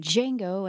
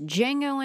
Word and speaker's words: Django: darker twists as in Django and The Great Silence, with the former directly influencing Quentin Tarantino's Django Unchained in 2012. The D is silent.